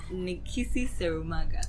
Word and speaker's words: Nikissi Serumaga: With Nikissi Serumaga. Correctly pronounced.